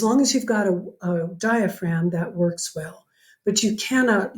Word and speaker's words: diaphragm: from your lab that the diaphragm diaphragm silent G the diaphragm is by far the